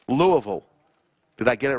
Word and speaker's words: Louisville: Not Louisville, Louisville.